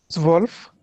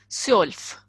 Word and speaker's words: zwölf: Zwölf. Sjolf. O umlaut is yo. So it is Ja. Sjolf. Sjolf. Okay. So I'm repeating. Null, eins, zwei, drei, vier, fünf, sechs, sieben, acht, neun, zehn, elf, zwölf.